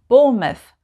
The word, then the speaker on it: Bournemouth: we would say mouth but if it's a place name we just say must like number 11 bournemouth bournemouth and number 12 plymouth plymouth it's very subtle bournemouth plymouth like bournemouth and plymouth in this group names